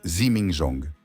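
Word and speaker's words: 自鳴鐘: conception complexe et leur innovation technique les zimingzong prononcé zimingzong qui se traduit par cloche qui sonne d'elle-même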